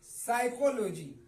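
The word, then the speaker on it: psychology: नहीं जाएगा य देखिए साइकोलॉजी साइकोलॉजी तो यहां पर एस से पहले क्या है एस से पहले प है तो यह पढ़ा नहीं जाएगा इस प का भी उच्चारण नहीं होगा जिसका माने होता है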